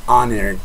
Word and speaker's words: honor: An honor también.